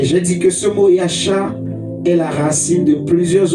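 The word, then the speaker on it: ישע: Et j'ai dit que le mot salut vient du mot hébreu Yasha, donc il s'écrit Y-A-S-H-A.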